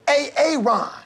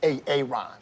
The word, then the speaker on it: Aaron: a a Ron here why didn't you say it the first time I said a a Ron because it's pronounced Aaron you're done messed up